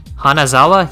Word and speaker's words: Hanazawa: counseling from Mrs anahano Sawa hanazawa yeah okay that's how you say it and then where